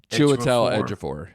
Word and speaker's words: Chiwetel Ejiofor: And how do you pronounce his name? Chiwetel Ejiofor.